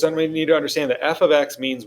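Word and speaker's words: f(x): this kind of thing this does not mean multiplication that is not f times x the way that is pronounced is simply f of x f of x and that is just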